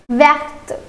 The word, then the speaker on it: verte: Now for the feminine it will be verte. Let's do it again. For the feminine it will be verte.